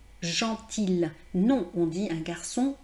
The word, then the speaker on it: gentil: Gentil se termine par IL. Et en fait, vous avez, on ne dit pas gentil. Hein, beaucoup de personnes me disent gentil, un garçon gentil.